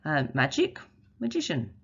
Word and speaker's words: magician: Magic, magician. Race, racial. And that C changes to a sh sound.